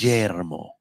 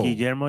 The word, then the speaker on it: Guillermo: Because when I was in Spanish class in high school, yeah, I was taught that the double L's are pronounced like a Y, like me llamo.